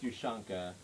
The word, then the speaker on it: Ushanka: Yeah, it's pronounced Ushanka.